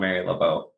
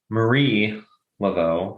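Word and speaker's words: Marie Laveau: right I love learning and it's Marie just for the record no you pronounced it wrong oh no it's Marie lot as far as you know I can prove it prove it I will right after we're done recording okay Marie Lao that's better she's French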